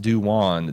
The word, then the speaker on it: Duan: Get well soon, Carol, and get a gig, Duan. Pronounced Duwan.